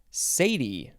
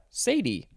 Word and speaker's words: cedi: probably next we have sadie yeah sadie but it is spelled c-e-d-i that's not how i would want to pronounce it but that's what the book tells me it is a noun